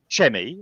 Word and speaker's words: Chemmy: Your name is Chemmy, isn't it? Not Chemmy, as some people have pronounced it.